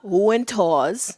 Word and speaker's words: Wintour: It's Anna Wintour's. Is it Wintour? Is that how you pronounce it? Sure. I always want to pronounce it with a V.